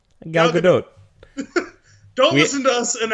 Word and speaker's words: Gal Gadot: Gal Gadot.